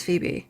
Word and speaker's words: Phoebe: It is Phoebe. Okay. So, the O is just silent.